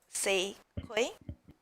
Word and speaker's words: Sei Kui: How do you pronounce your name? Sei Kui? Yep. Oh, I was right.